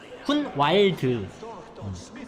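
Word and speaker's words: Hunwald: 얘는 후날드에게 줬네요. 참고로 후날드가 그 주인공한테 왔던 그 추방당한 아들내미. 후날드. 발음 잘해야 되는데 그냥 정확한 발음은 훈왈드입니다. 와일드? 훈왈드. 호날두랑 좀 발음이 비슷해가지고.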